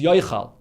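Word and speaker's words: יֹאכַל: So the way it's pronounced is Yei Ochel, but the way it's written is Yoichal. Because if you pronounce it Yei Ochel, it should really be with two yuds, Yei Ochel. But it's only written with one yud, so you spell it, so the spelling is Yoichal. So what's the difference between Yei Ochel or Yoichal?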